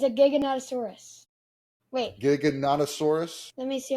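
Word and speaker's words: Giganotosaurus: It's a Gigonosaurus. Wait, Giggonosaurus. Let me see how to pronounce it. It's Dig and Nattoosaurus.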